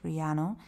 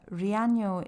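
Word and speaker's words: Riaño: get to Rano and over this n you can see this little wiggly line and that makes that n not a hard n like we have in in English Riano it's a it's like having n yo together um so whenever you see this little wiggly line make it a uh Rano is absolutely stunning and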